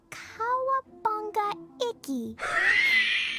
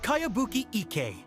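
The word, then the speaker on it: Kayabuki Iki: By Kawabunga Iki. Yoimiya, this is a really strange name. Who's this Kawabunga? It's pronounced Kayabuki Ike. That would be me.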